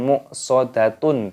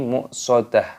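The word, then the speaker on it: مؤصدة: dimatikan ataupun di sukun maka cara membacanya bukan much saudatun tapi muksodah atau juga much seperti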